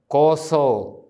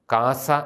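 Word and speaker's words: ܟܣܐ: വിശുദ്ധ കുർബാന തിരുരക്തം സൂക്ഷിക്കുന്നത് കോസോ ഈസ്റ്റ് സിറിയാക്കിലെ പൗരസ്ഥയ സുറിയാനി ഉച്ചാരണത്തിലാണ് നമ്മൾ അത് പരിചയിച്ചു പറയുന്നത് കാസ എന്ന് പറയുന്നത് സുറിയാനി നമ്മുടെ സുറിയാനിയിൽ ശരിയായിട്ട് അത് കോസോ എന്നാണ് ഇനി പീലാസ എന്ന് പറയുന്നതിന്റെ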